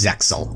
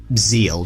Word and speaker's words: Zexal: The final S-Utopia monster is number S0 Utopics Zexal, or Zeal, depending on how pedantic you want to be about the pronunciation.